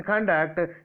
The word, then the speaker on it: conduct: In conduct, CONDUCT, conduct.